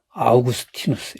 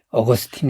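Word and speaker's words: Augustinus: 4세기에 가장 위대한 신학자는 아우구스티누스 예 우리가 고백록 으로 널리 알려진 어거스틴 이라고 영어 발음으로 하는 그 아우구스티누스 이 사람은 그 당시에만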